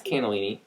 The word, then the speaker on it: cannellini: It's cannellini.